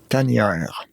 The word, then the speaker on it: Tanière: Now I have to ask you, Patrick, how to pronounce the name of this. T-A-N-I-E-R-E. T-A-N-I-E-R-E. Tanière.